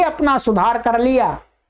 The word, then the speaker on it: लृ: आइएगा, इसका उच्चारण होता है लृ, बोलिएगा लृ लृ लृ।